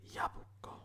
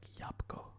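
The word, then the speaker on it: jabłko: which is ripper ryba yabuko it's saying it kind of interesting i always thought it was like yapko yapko yapoko yeah but this is pronouncing it and this app is in yabuko but i always just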